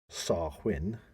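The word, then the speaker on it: Samhain: in modern times Wayne a Gaelic word pronounced sarwin okay so almost getting it right there it's half win SAR win for those people everybody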